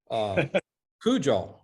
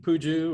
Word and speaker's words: Pujol: I don't want to mispronounce it because they always mess up Brecheen, coach, but Pujol. Yep, Pujol. That's right. Pujol. I could easily say Puju or Pojo, but it's Pujol. Absolutely.